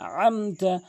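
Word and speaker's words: أنعمت: আমতা বলে বলতে হবে আইনটি হলকের মাঝখান থেকে আনমতা আনতা আলাইহিম এরপরে যে মারাত্মক লেভেলের ভুলটি করে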